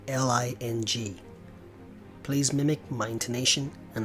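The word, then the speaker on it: 零: the word for zero it's Leng spelled Li ng please mimic my intonation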